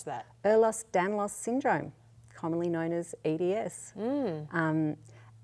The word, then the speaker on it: Ehlers-Danlos: How do you pronounce that? Ehlers-Danlos syndrome, commonly known as EDS.